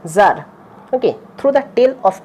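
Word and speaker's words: Tsar: ওকে, টি এর উচ্চারণ সাইলেন্ট থাকে, সেই জন্য জার।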